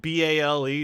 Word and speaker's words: Baal: Two A's together is a like bale. Just because it's not spelled B A L E doesn't mean it's it's it's old English.